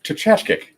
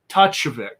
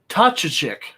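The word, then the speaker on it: Tkaczyk: I say it Tchachkyk, but it is spelled Tkaczzyk. Tachevik. There's no V. What? Sorry. Tachevik.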